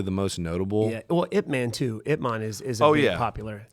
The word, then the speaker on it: Ip Man: You know, but then it's Ip Man, but no, it's actually Ip Man. Ip Man. Ip Man. That's actually how you say it.